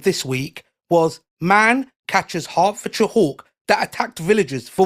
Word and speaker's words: Hertford: Hartford, how do you say that? Harford. Hartford. Hartford. Hart. Hartford. Hartford. Harford. Hart as in your body. Ford as in the motor car.